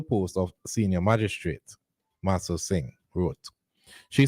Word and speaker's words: Singh: December 6th jordian Masters how you pronounce SI I n g s s sing Jo jordian Master Singh